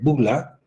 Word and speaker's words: bulla: eso se llama bulla se escribe bulla pero se lee bula aquí tenemos estas vesículas